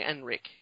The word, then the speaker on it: Henrik: I know that you didn't pronounce the H, but I had been taught that it was actually Enrik.